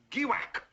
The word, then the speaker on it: Giwack: west east now here hang on here is giwack a small but oily state i'll spell that word for you giwack g i w